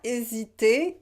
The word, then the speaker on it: hésité: Donc, il parlait avec tellement d'assurance que nous n'avons pas hésité. We don't pronounce the H in French.